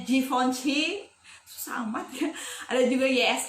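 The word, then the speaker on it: Givenchy: asing lagi ditelinga kita ada juga kayak givency bacanya jihoon c sama dia ada juga l tulisannya bacanya kayak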